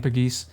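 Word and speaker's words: Pegues: in was JP pagis I learned how to pronounce his name pagis um I was think I was calling him like pegs or pigs or something last episode but it's PES I figured it out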